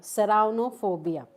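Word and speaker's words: ceraunophobia: Serranophobia.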